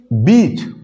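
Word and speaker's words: beach: Word लिखा, क्या लिखा, बीच। क्या लिखा, बीच। और यहां पे एक मैंने वर्ड लिखा, बिच। अब देखिए इनका प्रोनाउंसिएशन बिल्कुल हल्का सा डिफरेंस है, बीच बिच, बीच बिच।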